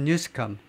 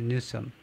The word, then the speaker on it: Newsom: Calling the California Governor Gavin Newsom. 이 캘리포니아 주지사를요 트럼프가 뭐라고 그러냐면 Gavin Newsom이 아니고 Newsom이라고 불렀어요. Newsom. 케빈 뉴섬 스펠링 아마 이렇게 될 겁니다.